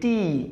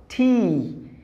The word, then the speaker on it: T: এরপরে যেটা আছে আমরা এটাকে বলি টি, এটা আসলে টি নয়, এটার উচ্চারণ হলো, সঠিক উচ্চারণ হলো ঠি, ঠি, ঠি।